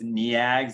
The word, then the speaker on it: Neag: It's NEAG, so it actually has the VV pattern, which I always think is funny.